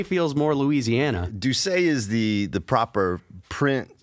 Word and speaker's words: Doucet: to introduce our new teaching pastor dr troy doucette yes am i saying that correctly because i i've been saying do say and do do say feels more louisiana do say is the the proper print a french pronunciation